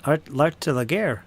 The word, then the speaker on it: L'art de la guerre: It's pronounced l'art de la guerre, unless everybody that plays that game is pronouncing it wrong.